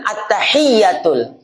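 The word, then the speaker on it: التحيات: Ya, bukan at-tahiyatul tapi at-tahiyatu. At-tahiyatul. Hiyatu, pakai tasydid.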